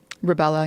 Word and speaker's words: rubella: Andrew Wakefield, who contended that his research showed that the combined measles, mumps, and rubella, how do you say it? Rubella, yeah.